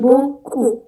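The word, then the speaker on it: beaucoup: language fik dia yang terakhir itu tulisannya tapi bacanya cuman boku bok ku P terakhir.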